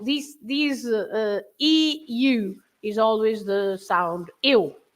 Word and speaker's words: sou: O-U, the sound O. It's not quite the O, the English O, but it's similar. It's O. O on its own, it's also a word. It means or. But you say, for example, in a very common word, sou, I am, right?